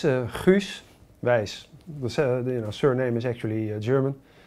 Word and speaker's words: Guus Weiss: So how do you pronounce it? Well, it's Guus Weiss.